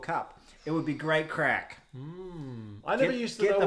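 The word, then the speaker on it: craic: I always thought crack was spelled C-R-A-I-C. Yeah, he's just spelled like crack as I'm going to step in a crack.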